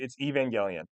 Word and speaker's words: Evangelion: It's Evangelion. It's funny to Evangelian though. It's so funny to pronounce it wrong.